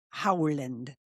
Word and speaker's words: Erling Haaland: Haaland. H A A is Howland.